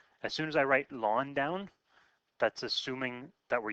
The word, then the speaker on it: ln: So it's ln, we pronounce it ln like L-A-W-N.